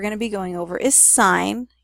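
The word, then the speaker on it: sine: be going over is sign you have to say it like it's a sign even though it's not spelled that way what we're going to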